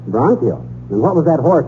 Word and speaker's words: bronchial: get stopped up and it's pronounce bronchial bronchial and what was that